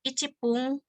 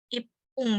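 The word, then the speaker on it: 一分: Jadi kayak misalkan 1 menit gitu. Jadi bukan icipung tapi jadi ipung ya.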